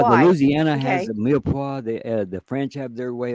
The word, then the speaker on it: mirepoix: Mirepoix, Mirepoix. mirepoix. Yeah. That's kind of a Louisiana thing, isn't it? Mirepoix. It's French, Okay, and that's yeah, the why. Louisiana has Okay. a mirepoix.